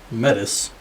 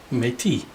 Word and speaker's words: Metis: And remember, Metis, not Métis.